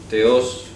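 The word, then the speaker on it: θεός: Teos, que se pronuncia con TH, teos.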